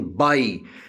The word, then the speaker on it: buy: And again, buy, B-U-Y, buy, U is silent.